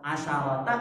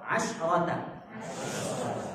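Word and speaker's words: عشرة: Tapi kalau asyara di belakangnya ada ta, di belakangnya ada ta. Bacanya apa? Asyarot, asyarota atau asyrota? Asyrota. Salah kalau ada yang baca asyarota, salah.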